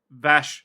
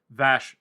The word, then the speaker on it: Vash: episode 13 entitled Bash the Stampede or as it is actually pronounced as I keep up my tag. Vash the Stampede.